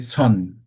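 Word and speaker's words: Seon: I think you're here you can correct my pronunciation if I'm if I'm wrong swan Buddhism in Korea right or swan and then you see chan Buddhism in China we say son swan Yes.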